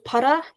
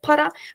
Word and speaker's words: para: So again, the word para in Turkish is copied into Hamshen with changing its dialect in northeastern Turkish dialect, the Karadeniz ağzı. It's pronounced as pa instead of para, but when they pluralize it, it takes the suffix iye.